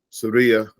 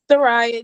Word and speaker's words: Soraya: what you said, Sister Surya. Saria, I'm sorry, how did I say it again? Soraya, just Soraya. Okay, all right. It speaking of, rhymes with Mariah.